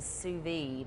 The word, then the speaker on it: sous vide: Explain though a little bit of what I had never heard of a sous vide. Is that did I say it correctly? You did.